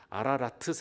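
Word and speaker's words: Ararat: 저 아라산은 사실 정확하게 말하면 아라라트 이렇게 발음해야 되더라고요.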